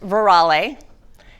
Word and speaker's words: Veralle: It's pronounced Veralle, and it's Italian, and it means all of the truth.